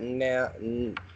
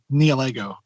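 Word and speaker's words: Nihilego: Me personally, I pronounce it Neolego. Or if you really love Legos, Nilego. And another way I've heard it is Nihilic. Gesundheit. Sorry, what was that what you're saying? I've also heard Nihiligo as well.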